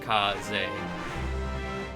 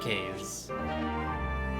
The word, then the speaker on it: Kaze: I'm pretty sure it's Kaze. Like K's, it's definitely not K's. If that's what you're thinking. Yeah, Japanese name. Yeah, Suzukaze is a Japanese name, so just drop the Suzu.